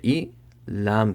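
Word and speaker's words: إلى: But generally, the last letter, when it does not have any harakat, it should not be pronounced. So ala, hamza zer I, lam kari zabar la, ila.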